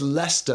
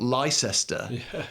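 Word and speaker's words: Leicester: totally baffling to foreigners why do we say why is leester not Lester you know why is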